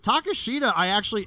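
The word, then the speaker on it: Takeshita: Takashita, and I guess you say his name another way, but Takashita's how I've been doing it.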